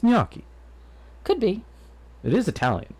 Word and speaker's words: gnocchi: for everybody gnocchi there google says it's pronounced like this gnocchi okay we'll go with